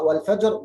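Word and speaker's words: والفجر: Tapi di waqaf ra wal fajr jadinya tebal, tafkhim.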